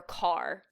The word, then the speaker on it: Deborah Kerr: Deborah Kerr actually went by Deborah Carr. It's car. It makes no sense. I thought it was car.